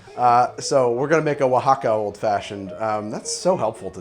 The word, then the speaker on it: Oaxaca: rum old-fashioned and we're gonna make it a Wacka old-fashioned hope I'm pronouncing it the right way I have a friend here who seems to speak Spanish natively Nico how do I say Oaxaca Oaxaca Oh with a w he told me it's